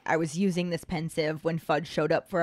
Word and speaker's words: Pensieve: i say pensive because it's the combination of the word pensive spelled p-e-n-s-i-v-e and a sieve which is spelled s-i-e-v-e